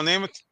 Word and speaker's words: Namath: Oh, Joe Namath. Yeah. So when I saw his name written, Uh-oh. I was like, oh, Joe Namath. And he was The like, no, it's okay. not Namath, it's No, Namath.